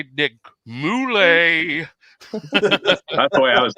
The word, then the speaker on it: Mulae: is finally mr nick moulay is am i pronouncing your last name right that's right yeah okay okay it's italian okay gotcha every time